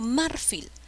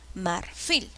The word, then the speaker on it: marfil: fuerza de voz marfil yo no digo marfil digo marfil cuál es la sílaba que lleva la mayor fuerza qué tipo de palabra es es una palabra si lleva la mayor fuerza de voz en la última sílaba es una palabra aguda siguiente palabra manda celo